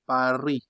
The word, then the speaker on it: Paris: For example, they don't say Paris. They don't say Paris. That is not correct for you. Say what? Par. Since you have a vowel here, drop this one in your mind. Just say par.